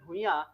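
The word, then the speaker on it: Bhuyan: पर एन भी हैं ठीक है तो उज्जल भुइया जो है ये यहां के क्या है के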